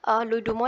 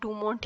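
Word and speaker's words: Louis Dumont: की कोशिश की है लुई डुमो ने। फ्रेंच है इसलिए हम टी नहीं बोल रहे हैं। ठीक है, याद करने के लिए आप डूमोंट ही बोल लीजिएगा क्योंकि स्पेलिंग याद रहनी चाहिए।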